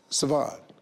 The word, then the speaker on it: Siobhan: So the S-R is a sh. And that's Bond. That, see, right there? See, now. You've been schooled. Being black, how would I know that? Siobhan.